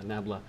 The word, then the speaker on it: nabla: are math majors does anyone know how to pronounce this nabla yeah nabla but here that's that's good but now let's